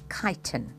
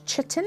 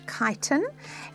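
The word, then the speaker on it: chitin: The substance that makes that exoskeleton is called kiten. All right, there's the spelling of the word. Don't um don't mispronounce it. It's not chitten, it's kiton.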